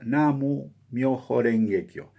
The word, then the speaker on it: Namu Myoho Renge Kyo: Lien Hua Chin, él, al leerse en japonés esos mismos caracteres, se pronuncia Namu Myoho Renge Kyo.